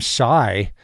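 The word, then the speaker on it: Chey: It's pronounced Shai, but it's spelled C H E Y. So, it's pronounced Shai.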